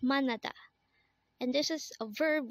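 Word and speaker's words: 만나다: again I action is morning next word is manada again it's manada and this is a verb which means to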